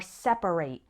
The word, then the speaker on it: separate: Now, when the word is used as an adjective, then we pronounce it like separate. For example, men and women have separate bathrooms. And when it's used as a verb, then we pronounce it separate.